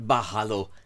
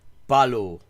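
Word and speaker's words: ভালো: Not bahalo, balo.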